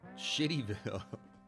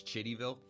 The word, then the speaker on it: Chittyville: Tim Bullock and Barbara Smith were in a car parked near Shittyville. It's spelled Chittyville. That's not Shittyville, right? That's Chittyville or Shitty. Chitty or Shitty. Like with the C sound, like shit, you know?